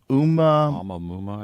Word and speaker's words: Oumuamua: Oumuamua, I think. Oumuamua, discovered in 2017.